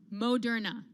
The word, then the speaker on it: Moderna: called moderna so now i know how to say this company's name by the way if everyone's listening yep moderna that's right what's this you're putting an extra r in there man you're doing it maybe